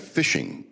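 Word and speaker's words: phishing: And then you have fishing. And and the fishing that these people do is called P. It's spelled P H I S H I N G.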